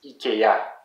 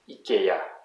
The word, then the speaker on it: Ikea: Again, notice that it's always the last syllable that is the most stressed.